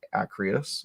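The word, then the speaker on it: Arceus: game and then the other one's pokemon legends acrios i think it's how you pronounce it um ign gave it a 7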